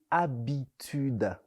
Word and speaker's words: habitude: mot de jour c'est habitude habitude ça s'écrit avec un h muet au début habitude h A B